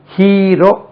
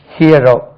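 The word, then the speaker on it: hero: app that movie ஹீரோ ஹீரோ அழகா சொல்றான் தமிழ்ல பாருங்க ஹியரோ ஹியர் ஹியரோ ஹியரோ ஹூ இஸ் இஸ் தி ஹீரோ ஹியரோ ஹியர் ஹீரோ அதை ஹீரோன்னு ஆக்கிடுறான் ஹீரோ இது வேண்டாம் ஹூ இஸ் தி ஹீரோ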